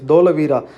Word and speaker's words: Dholavira: that you are saying wrong so it is dholavira but see i was right in answer is